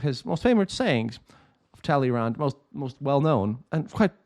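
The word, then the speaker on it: Talleyrand: the words of immortal Taleyrand, or Taleyrand. I try to make it kind of sound properly French, because this needs to be said in French.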